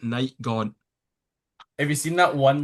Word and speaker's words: NachtGhavnt: I mean, I know it's Night Gaunt, but I'm just gonna keep saying NachtGhavnt because it's funny.